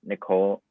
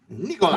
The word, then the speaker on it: Nikola: Trae is averaging 2 more points than Nicole Nikola. That's how you say his name, right? Yeah. Nikola.